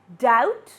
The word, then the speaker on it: doubt: B, incline, comb, doubt, and subtle.